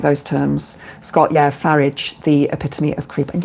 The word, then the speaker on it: Farage: Scott, yeah, Farage, the epitome of creep. And yeah, I don't call him Farage. I call him Farage cuz it's spelled like garage.